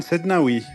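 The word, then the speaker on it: Sednaoui: No Martinez Stefan Sednawi right the Is it is that how you say it?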